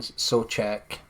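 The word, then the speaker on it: Souček: It's definitely Fornals and Sochek. That's how you say it.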